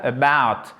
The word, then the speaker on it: about: Accentuation sur la deuxième syllabe, about.